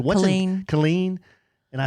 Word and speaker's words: Killeen: First things, Alan pronounces Kylene, Texas wrong. It's pronounced how Kellie said it, and it was Fort Hood, Texas, which is in Kylene, but it is now named Fort Cavazos.